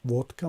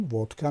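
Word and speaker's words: водка: و این کلمه ودکا هست، ببینید که مثلا زده در هجای اول افتاده است و اینجا نشان میدهد علامت زده رو که هجای اولش بلند تلفظ میشد. ودکا میگن، ودکا نمیگن. شاید ما تاجیکا ودکا بگیم اما در زبان روسی ودکا میگن.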